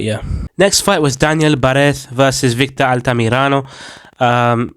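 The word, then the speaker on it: Barez: next fight was Daniel Barz versus Victor altamirano um I'm saying Barth because flipping Michael Bisping was yapping about how to pronounce it anyway um so yeah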